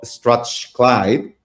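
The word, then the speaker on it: Strathclyde: She holds a PhD in marketing from the University of Strat Clyde. I hope I I pronounce well that name.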